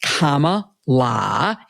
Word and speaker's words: Kamala: The question is, since President Biden dropped out of the race and Kamala, pronounced Kamala, as her little nieces told us, when she became the